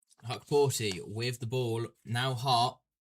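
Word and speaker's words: Hukporti: Confirmation from Matthew Owens that it is pronounced Huckporty.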